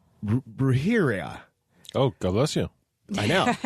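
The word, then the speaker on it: brujería: It's brujeria. Oh, God bless you. I know. Witchcraft in Spanish. Johnny, I'm sorry. I know I did not say that right. It is spelled Brujeria, but it's witchcraft in Spanish.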